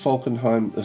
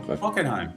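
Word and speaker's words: Falkenhayn: So this F is this Falconheim. What's his name? Falcon. I've got his name wrong. Falenheim. Yeah, it is Falenheim.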